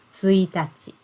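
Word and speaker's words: 一日: the same this word if we use this word as the first day of the month we pronounce it as suitaci okay yeah and can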